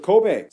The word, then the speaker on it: Kobe: in the city of Kobe oh Kobe beef oh it's Kobe not Kobe Kobe beef that's good to know I'm sure my pronunciation